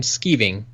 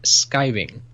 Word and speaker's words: skiving: you keep pronouncing them skeeving i was wondering if it's actually written differently because in the UK it's pronounced skiving it's a word we